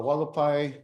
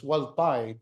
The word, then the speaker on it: Hualapai: Since the Hualapai, which is Hualapai, people of the tall ponderosa pines, and Havasupai, people of the blue-green water, is the accurate pronunciations and translations for the tribal names.